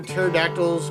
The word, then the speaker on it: pterodactyl: why you can't hear pterodactyls going to the bathroom why is that jar cuz the p is silent pterodactyl I get it